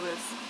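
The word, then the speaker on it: は: It is, but when you use it as the subject marker of the sentence, you pronounce it wa.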